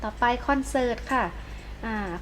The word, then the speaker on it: คอนเสิร์ต: คะ ก็ จะ ไป คอนเสิร์ต ค่ะ อ่า คอนเสิร์ต รอ เรือ การันต์ เรา จะ ไม่ อ่าน ออก เสียง ตัว นี้ ใช่ ไหม คะ เด็ก ๆ ก็ ศาล ว่า คอนเสิร์ต ค่ะ ประโยชน์ ป่า ประโยชน์ รอ